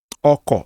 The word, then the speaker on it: Ọkọ̀: Ọkọ̀. So we put this here, and there's going to be a grave accent on the last O there, ọkọ̀.